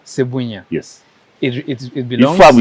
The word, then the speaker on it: Sebunya: How do I pronounce it? Sebunya. Sebunya.